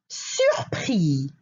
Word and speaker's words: surpris: Surpris. Surprise. Surpris is the masculine form, and you notice that I do not pronounce the S at the end of surpris.